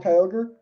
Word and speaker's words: Kyogre: Is that how you pronounce Primal it? Kyogre?